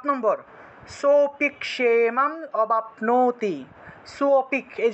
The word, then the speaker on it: सोऽपि: সোপিক, এই যে আগের মতোই, এখানে লুপ্ত অ ছিল, লুপ্ত অটাকে আমরা টান দিয়ে উচ্চারণ করলেই লুপ্ত অ অটোমেটিকভাবেই চলে আসে। এখানে আলাদা করে অ উচ্চারণ করবেন না। এখানে অটা লিখে দেওয়ার কারণে অনেকে অটাকে আলাদা উচ্চারণ করে ফেলেন। এখানে সোটাকে একটু টান দিয়ে উচ্চারণ করতে হবে।